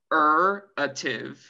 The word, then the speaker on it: regenerative: Regenerative. Regenerative. Regenerative. Sí, eso es. Regenerative. Como cinco sílabas.